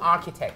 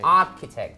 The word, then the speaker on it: architect: ใ ๆ นะ คำ นี้ เนี่ย ก็ คือ Architect คำ Architect Architect you say ari คือ เข้า ใจ มัน